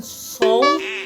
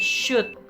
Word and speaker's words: should: Bacanya bukan sold, bukan should, bukan sul, tapi should. Ya, sama seperti should tembak-tembakan. Jadi L-nya hilang ya.